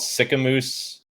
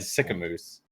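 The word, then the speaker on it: Sicamous: moose okay it's felt it's spelled s I see a mo us unless unless everybody from Alberta says it different everybody who lives there I'm almost 100% positive it's it's said sick a moose how else would you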